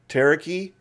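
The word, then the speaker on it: ταραχή: In ancient Greek, there was this word taraki, pronounced exactly like taraki.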